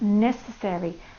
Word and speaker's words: necessary: Necessary has 4 vowels of 4 syllables. Watch this. Ne, se, re. There are 4 syllables in that word. The very last one is the Y and it says E.